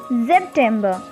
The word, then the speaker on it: September: august as it is september is september slightly taking the sound of zed is like september next we have october